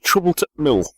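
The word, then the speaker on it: Trouble at t' Mill: Oh, so the apostrophe T just isn't pronounced. Is that what you're trying to say? Sort of gets swallowed up in a Yorkshire North Yorkshire mist.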